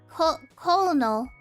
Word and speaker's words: colonel: heart caramel caramel has multiple oh okay uh colonel cold cold oh did I say it right